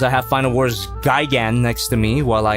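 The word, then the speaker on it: Gigan: me saying that no but B it's actually pronounced Gan no I watch final wars and I can confirm that it's pronounced Gyan the the main villain screams it Gan yeah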